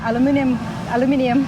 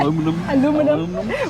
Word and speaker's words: aluminium: real wood in it or the aluminium, as you Americans say. Aluminum. We say aluminium, okay.